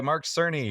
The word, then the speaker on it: Cerny: So PS Pro, it was revealed by Mark Cerny, who I apparently was calling Mark Kearney, and I was wrong, but now I know how to pronounce it correctly.